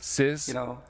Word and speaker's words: Scis: Oh, maybe Sizz. Sizz? Uh-huh. Yeah, like sister album.